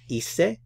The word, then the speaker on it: hice: Remember that the H is silent. So we have hice.